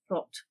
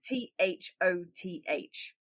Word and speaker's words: Thoth: Now as we know we now have more of those days and this was because of th or thought or toth. Yeah. And it's it's t h o t h.